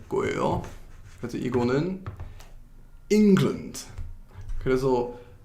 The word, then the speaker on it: England: 그래서 이거는 England. 그래서 첫 번째 syllable? 이거 한국말로 어떻게 하는지 잘 모르겠는데 syllable이라고 해요. 영어로는. 그래서 첫 번째 syllable를 좀 강제하는 거예요. 그래서 England 이렇게 발음하는 거예요.